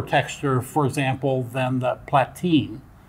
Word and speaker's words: Platine: I tend to use exhibition fiber, Merida, or platine. How do you pronounce that?